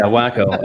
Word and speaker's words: Waco: college community up there it's pronounced wacko by the way oh wow yeah wacko um what do you